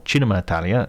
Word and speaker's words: Cinema Italia: It's called Cinema Italia, or Cinema Italia, if I give it the proper Italian pronunciation, and will feature guests